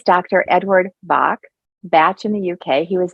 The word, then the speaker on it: Bach: uh Bach is spelled b-a-c-h so we in America say Bach flowers via the composer actually it's pronounced technically batch but for this show